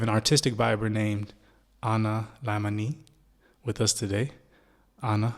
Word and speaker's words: Laimanee: All right, now I know we went through this before, but it's Laimanee. Yeah. Laimanee. Okay, so Like that's the Thai pronunciation.